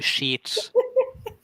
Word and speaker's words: sheets: ] oh I but if you say slower and longer it will be sheets for God's sake you